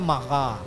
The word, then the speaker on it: Maja: Grand Maha itu blodok Maja atau maha sih namanya Maja Tapi bacanya maaha El Grand maaha Wah tu ada bajunya